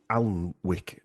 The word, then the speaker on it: Alnwick: But the Sir Henry de Percy, first Baron of Alnwick Castle spelled Alnwick, but I think it's pronounced Alnwick Castle in Northumberland.